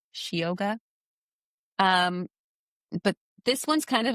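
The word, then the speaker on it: síoga: So it's a changeling, but the Irish word for it is Shioga. And so it's spelled Sioga, Shioga.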